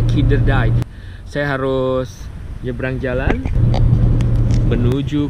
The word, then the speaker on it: Kinderdijk: Nah, cara bacanya Kinderdijk.